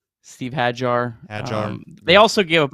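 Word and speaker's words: Hajjar: Steve Hajar.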